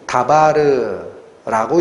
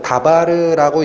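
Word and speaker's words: דבר: 이 말씀이 다바르라고 읽히는 단어입니다. 헬라어에서는 노고스인데 히브리어에서는 다바르라고 읽히는 게 말씀이에요.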